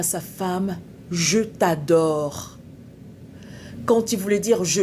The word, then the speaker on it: je t'adore: En fait, le monsieur voulait dire à sa femme, "Je t'adore." Quand il voulait dire "Je t'adore", il a dit "Chat te chadore".